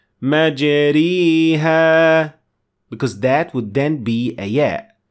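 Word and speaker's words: مجريها: Notice that we said مَجْرِيهَا, not مَجْرَاهَا. That is an alif, so it is not correct. And I did not say مَجْرِيهَا, because that would then be a ya.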